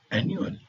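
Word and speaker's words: annual: का होता है वार्षिक तो स्पेलिंग में डबल एन का उपयोग हुआ है परंतु उच्चारण में सिर्फ आधा न का उपयोग हुआ है एनुअल अब हम जी के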